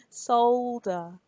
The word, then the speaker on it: solder: There's an L there. You have to pronounce it. Solder.